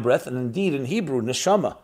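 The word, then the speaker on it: neshama: And indeed in Hebrew nishama soul pronounced differently is nishima is breath breath and soul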